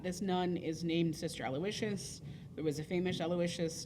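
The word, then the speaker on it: Aloysius: would be aloicious so you add the W sound when it's a girl and there's no W when it's a boy aloicious versus aloicious um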